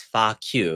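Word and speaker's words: 花橋: So to pronounce it in Cantonese, it is Fa for flower. So, okay. And then Q for bridge. So Flower Bridge. Flower Bridge. Is Fa Q is what you're saying.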